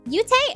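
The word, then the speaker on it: Yoot: exactly exactly so um yute i mean he it's spelled y-o-o-t is how it's spelled okay yeah that and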